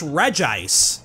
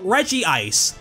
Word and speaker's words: Regice: But then this guy is Regice. That makes sense when you see how it's spelled, but it means it doesn't have the Regi sound in its name like the others. So some people will call it Regice, pronouncing the I twice.